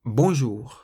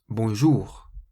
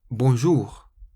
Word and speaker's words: bonjour: French words is that you always stress the very last syllable of the word in French. So you say bonjour, bonjour, rather than bonjour.